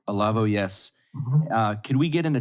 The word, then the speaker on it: Olavo: But there's Alexander Dugin, and who I pronounce Olave, I believe, is one of Olavo. Olavo.